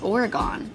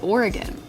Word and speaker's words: Oregon: people say illinois oregon everybody on the east coast says it's oregon it's not it's oregon i don't know what